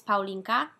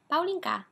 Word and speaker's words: Paulinka: and your twitter says paulinka well because she's a polish because a cute way to say my name in polish is paulinca paulina paulinca and so everyone else favorite